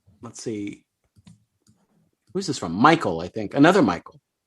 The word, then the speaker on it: Michael: by Matt pointing out how JBL pronounced Michael as Maggle.